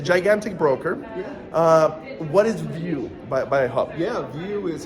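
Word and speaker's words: Viu: view by Hub okay so view it sounds like view right it's spelled v-i-u okay so I think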